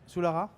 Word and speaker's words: Sioulara: Sioulara, c'est comme ça qu'on prononce, Sioulara, de l'EDUS Belgique, plus UBV BDB, je vais le dire 2 fois, merci.